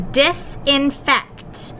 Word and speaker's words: disinfect: Now listen carefully. Kt, kt. The CT blend is really hard to hear sometimes. I know sometimes it sounds like a KT, but at the end of the word here, you're going to hear a kt. It's going to be a CT.